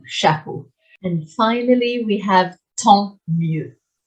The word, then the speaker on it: tant mieux: And finally, we have tant mieux. Tant mieux, lots of silent letters in that one, is like so much the better.